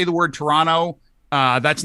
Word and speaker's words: Toronto: guys say the word toronto uh that's not how people in canada pronounce it try dropping the second t as in terra no